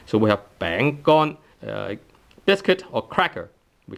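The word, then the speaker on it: 餅乾: A dry piece of a thing created by flour is 餅乾. 乾. Tone 1, bang, and bang is tone 2. So we have 餅乾, biscuit or cracker.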